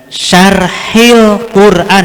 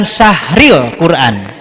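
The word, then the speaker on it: Syarhil Qur'an: pengenalan Fahmil Qur'an dan Syarhil Quran hati-hati cara bacanya Syarhil Quran bukan Syahril Quran Kalau Syahril artinya Papa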